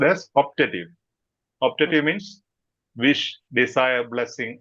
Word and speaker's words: optative: It is pronounced as optative.